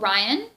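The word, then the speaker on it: Rian: this really cool kid called ryan kind of like this spelled like ryan johnson suppose his name are i a n and he has a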